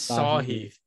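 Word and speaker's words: Theegala: correct you on it saheed the gala the king it's saw heath it's how is it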